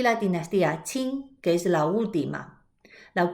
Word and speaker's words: Qin: prosperidad y la dinastía chin que es la última la curiosidad de la historia china es que la primera es se escribe en el álbum se pronuncia como ch es decir chin chin a algunos dicen